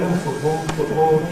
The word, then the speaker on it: football: So in a word like ‘football’ that we’ve got here, . It really now passes unnoticed, and it’s beginning to sound rather careful to say with an alveolar [t].